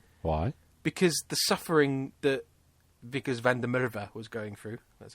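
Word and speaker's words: Wikus van der Merwe: Because the suffering that Vickers van der Merwe was going through, that's how you say his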